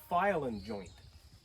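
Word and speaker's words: File-N-Joint: a thing called a file-in joint. A file-in what? File-in joint. It's spelled file-n joint. It's one of those weird, quirky things that's not spelled right.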